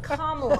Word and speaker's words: Kamala: I went on a nonpartisan It's pronounced Kamala.